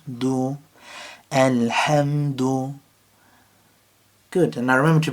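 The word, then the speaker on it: الحمد: So remember to take a breath and figure out where the ha comes from. Ha, ha. And figure out which part of your throat that is. So al-ham, ham. And then taking it like that, taking it syllable by syllable and working through it. Alhamdu. Again with the dal, just noticing where the tongue goes.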